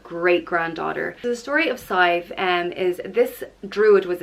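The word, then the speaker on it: Sadhbh: is scythe and it's spelt sa d hbh and it is pressed scythe like rhyming with five and scythe is the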